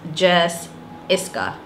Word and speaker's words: Jes Iscah: I'm Jessica, known here as Jes Iscah. If you've ever wondered what Jes Iscah is, since we're in 2020, I'm going to explain it all over again. So the name is pronounced Jes Iscah.